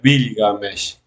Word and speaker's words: Bilgamesh: Gilgamesh en sumerio es Bilgamesh. Bilga, primero se decía Bilga, después en el periodo de Lagash y Ur se decía Gilga. Gilga o Bilga es la misma palabra, después se pronuncia Gilga.